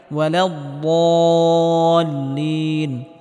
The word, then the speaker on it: الضالين: আলাইহিম ওয়ালাদ-দাল্লিন, এখানে বদটিকে মোটা করে উচ্চারণ করতে হবে এবং হালকা আওয়াজ জারি রেখে উচ্চারণ করতে হবে।